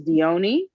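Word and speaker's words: Dione: mythology and mythology like the proper pronunciation i believe is deioni and um of course it's greek so it's not written d-i-o-n-n-n-e um but the original spelling is with one n and um in greek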